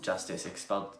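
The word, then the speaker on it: Justus: And Justice is, well, Justice except it's spelled J-U-S-T-U-S.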